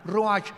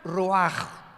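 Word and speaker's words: רוח: Como suena con R de Raúl, ch al final, Roach y se pronuncia roaj.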